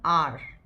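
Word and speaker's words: hour: After half an आवर, ये यहाँ H जो होता है अगेन इट्स अ साइलेंट।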